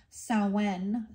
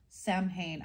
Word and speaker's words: Samhain: The ancient Celts used to call this time of the longest night of the year Samhain. Samhain.